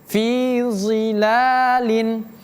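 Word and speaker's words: ظِلَالٍ: Kita baca zi yang awalnya zi, tapi kita naikkan tengah dan pangkalnya jadi zi. Dari zi jadi zi. Jadi bacanya fi zilalin, innal muttaqina fi zilalin.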